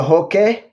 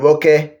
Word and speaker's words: Roque: Victor Roque. It's not Roque. The R is pronounced as a H in Brazil.